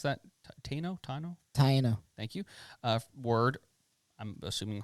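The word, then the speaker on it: Taíno: How do you pronounce that? Taino? Taino.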